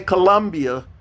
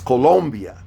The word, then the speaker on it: Colombia: venezuela colombia don't say colombia colombia that's a oh colombia okay i know we've been uh pronouncing it differently in in the united states of america but it's colombia then you go to